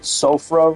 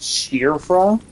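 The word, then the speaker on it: Siofra: It's kind of like there's everyone calls it Sofra River, but it's pronounced when pronounced in either I think it's Gaelic or it's some European language that has a weird pronunciation.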